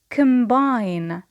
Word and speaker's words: combine: The next verb is to prepare. Prepare. Here, the stress as well in the second syllable. Next verb is to combine.